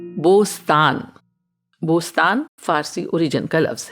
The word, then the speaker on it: بوستان: والی بلبل نہیں ہے۔ اور عربی میں بوستان کا تلفظ بستان ہوتا ہے، کبھی کبھی یہ اردو میں بھی اس طرح استعمال ہوتا ہے، اور اس شعر میں بھی کچھ اسی تلفظ میں آیا ہے۔ یہ خوبصورت